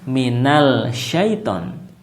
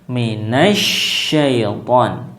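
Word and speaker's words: مِنَ الشَّيْطَانِ: minas ya minas bukan Minal syaitan ya karena ini adalah alif lam Syamsi ya maka dibacanya adalah minasyaitan ya bukan Minal syaitan nah kemudian ya jangan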